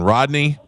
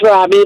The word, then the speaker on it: Robbie: Rodney? It's Robbie, but okay.